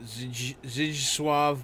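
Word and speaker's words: Zdzisław: A couple fucking crybabies in the fucking chat are saying it's pronounced Zdzislaw Beksinski.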